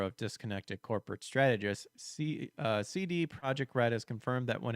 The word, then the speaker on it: Projekt: the public courtesy of I keep wanting to sing CJ because project is spelled with the J. CD Projekt Red themselves, who released